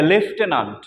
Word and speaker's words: lieutenant: মধ্যে একটা আছে যে লেফটেন্যান্ট। ইংরেজি লেফটেন্যান্ট বানানটা আসলে লেখার সময় আমাদের ব্যতিক্রম হয়, উচ্চারণের সময় হয় লেফটেন্যান্ট, আসলে লেখার সময় কি সম্পূর্ণ ব্যতিক্রম। এবং বানানটা হবে কি LIEUTENANT, কিন্তু উচ্চারণ হয় লেফটেন্যান্ট।